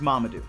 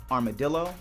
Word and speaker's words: Mamadou: My name is Mamadou, not Armadillo, not Marmaduke, not Mumu, not Mumam. Mamadou.